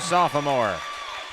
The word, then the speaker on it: sophomore: Dropping the hammer, Barrett Anderson, the 5'10" sophomore. Sophomore. That extra syllable sometimes works its way in.